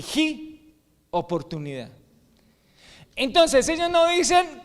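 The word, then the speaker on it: 机: La palabra china para crisis son dos caracteres que más o menos se pronuncian así: wei, W-E-I, wei, hi. Son dos. El primero, W-E-I, wei. ¿Ok? Y el segundo, hi, J-I.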